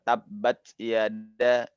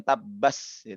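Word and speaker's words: تبت يدا: Tabbat yada ya. Bukan tabbas, bukan tabbats.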